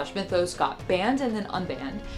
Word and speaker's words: Mythos: By the way, I really do think in my heart of hearts it's pronounced Mythos, not Mythos. I asked on my Instagram story and the entire Greek diaspora DM'd me to tell me it was indeed pronounced Mythos in Greek, but at the same